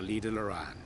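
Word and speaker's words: Lydha Lran: Now, if all is in order, let us set forth for Lida Loran. No, that's how you pronounce it.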